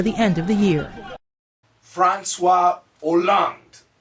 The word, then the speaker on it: François Hollande: François Hollande, or as Americans would say, Francois Holland, that would be the typical American pronunciation, is the new president of France.